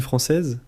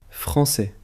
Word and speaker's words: français: Et toi Nina, tu aimes la cuisine française ? Oui, j'adore les crêpes et les croissants. Attention à la prononciation. Croissant. Croissant. Français.